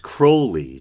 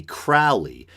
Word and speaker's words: Crowley: a version of it it is pronounced Crowley to remind you that I am holy but my enemies say Crowley and wish to treat me Fowley and I think I